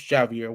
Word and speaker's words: Javier: I did want to say my name's Javier with a J.